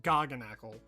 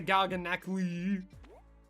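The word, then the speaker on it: Garganacl: I know for a fact it's pronounced Garganackle. I watched Pokemon Horizons, and I know that for a fact. They don't say Garganackly.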